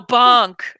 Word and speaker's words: bank: I said bunk. He goes, no, bunk. I'm like, okay, bunk.